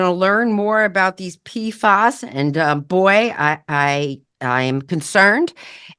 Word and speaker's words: PFAS: It's called PFAS, but it's spelled capital P, capital F, capital A, and capital S.